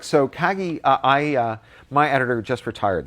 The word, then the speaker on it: Kagi: Kagi.